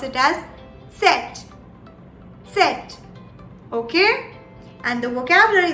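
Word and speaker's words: Zett: you pronounce the z it's very essential that you not miss the t here as well so while you pronounce the z you pronounce it as set set okay and the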